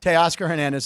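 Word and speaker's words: Teoscar Hernandez: I have Teoscar. Hernandez.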